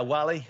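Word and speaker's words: Whalley: go for the northern ireland okay flanks yeah wally wally yeah okay lan x lanks shoes um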